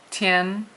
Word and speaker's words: 天: Tian is the way that you say it. It's a first tone.